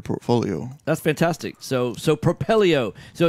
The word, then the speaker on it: Propelio: excited to be joined today Daniel Moore with propello hey tell us a little bit about the